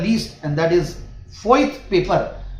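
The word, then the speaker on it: Voith: least and that is फोथ paper but इसकी spelling बता दूं वी ओ आई टी एच तो ये कई बार ऐसे जर्मन कंपनियां होती है तो ऐसा नाम होता है बट ये कंपनी भी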